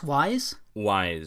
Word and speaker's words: Wise: Wise.